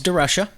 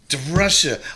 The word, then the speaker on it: DeRusha: Well, first of all, it's DeRusha. DeRusha. Why do I say that? I don't know, because it's spelled that way, and most people do.